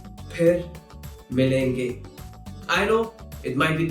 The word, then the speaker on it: फिर मिलेंगे: So, if you hear someone saying fir milenge, that is incorrect. The correct pronunciation is phir milenge.